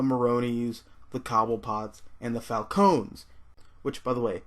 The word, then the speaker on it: Falcone: Which, by the way, yes, it's pronounced Falcone. I think the Falcone thing stuck around because Batman Begins, but I mean, everybody in that movie is British, so they pronounce things wrong.